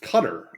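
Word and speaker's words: Qatar: Can we all just Can I Can I Can we just talk about how that that country is pronounced? I think it's so funny. I don't think it's fair. Cutter. Cutter. Yeah, it's cutter.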